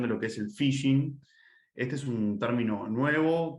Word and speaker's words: phishing: Phishing, que en realidad se pronuncia igual que en inglés, el término phishing, que es con F en realidad al principio, y que significa pescar.